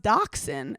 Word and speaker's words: dachshund: It's pronounced dachshund. And I go, maybe we're not dumb. Maybe this is Where's the X? I thought dachshund was a whole separate breed. Same. I thought it was.